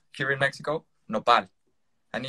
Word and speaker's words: nopal: developing this is, it's called here in Mexico, nopal, and it's spelled N-O-P-A-L, nopal cactus.